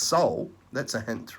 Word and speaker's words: sol: what's full representation sun the latin word for sun is sol it's pronounced soul that's a hint right